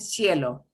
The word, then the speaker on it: cielo: And cielo.